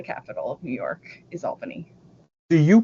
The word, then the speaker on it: Albany: do correct people and you correctly uh pronounced it as Albany um not what what's the alternative Albany ALB I've never heard that I guess I guess